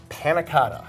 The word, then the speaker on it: panna cotta: So, I think I remember how to pronounce this. Panna cotta.